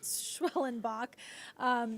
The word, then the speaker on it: Schwellenbach: So for those of you out there who see his last name and might be intimidated by how it's spelled, it's Schwellenbach.